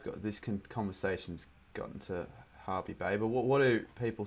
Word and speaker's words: Hervey Bay: is just queensland but we pronounce herbie bae as harvey bay the famous herbie bell